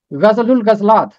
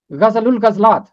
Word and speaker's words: غزل الغزلات: نام ہے غزل الغزلات۔ غزل الغزلات عربی زبان کا مرکب لفظ ہے، اس کا تلفظ ہے غزل الغزلات، غزل الغزلات، غزلات کی غزل، سانگ